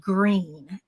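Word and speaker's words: Gruene: is an old community called green and it's spelled gr R NE and it's actually the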